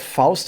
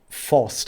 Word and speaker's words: Faust: write files i've read faust myself multiple times not just in school because i went to a german school of course i read faust and or forced as english people might uh pronounce it and the thing is